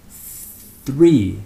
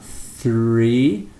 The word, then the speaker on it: three: We then quickly retract our tongue to pronounce the rest of the word. For example, three, three. When we say the R, three, our tongue retracts into the back of our mouth again.